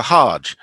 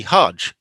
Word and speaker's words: hajj: are called the hug and the hard g uh often becomes a soft g when hebrew words are translated into arabic that's one of the